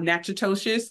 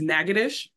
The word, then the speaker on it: Natchitoches: For mom, she had ties to Rapides, Natchitoches, and Grant. And of course, I would be remiss being a Louisiana researcher if I did not remind everyone that that is not Natchitoches, it's Natchitoches.